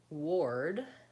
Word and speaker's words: ward: work are similar and the word ward has a different vowel so all of these